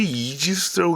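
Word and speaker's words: Aegis: 어, 저는 영어를 제가 잘못해서 이게 이지스 있는게 신기해요. A가 묵음인가? 해관 이지스래요.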